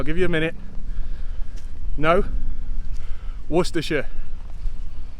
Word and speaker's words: Worcestershire: this word just like i do with saying pronunciation so i'll put that up now i'll give you a minute no worcestershire it's the worcestershire beacon it's really not as